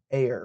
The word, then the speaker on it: Auer: a Finnish name okay the correct pronunciation is but like works anything works really okay cool so tell